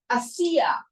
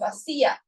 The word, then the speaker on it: Asiya: This world is called the world of Asiya. This is the lowest world. It's called the world of Asiya. And in Spanish, I love this word because in Spanish it rhymes with hacer.